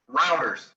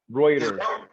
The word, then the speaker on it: Reuters: What is it? Routers. Routers. Reuters. Oh, it's Reuters.